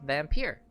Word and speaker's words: Vampyr: i found out that it's actually called vampire which makes sense because it is spelled differently than vampire anyways let's continue on